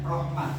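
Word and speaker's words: رحمة: Sekalipun dibacanya rohmah, nanti dibacanya rohmah. Kalaupun nanti itu ada tanwinnya, rohmatan, ya rohmatan dibaca rohmah, ya.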